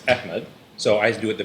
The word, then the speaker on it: Ahmed: I'm going to Yeah. pronounce my name like how a Pakistani would say it. I'm not Arab, Yeah. so I don't do the Arabic pronunciation. But then I'm getting Ahmed.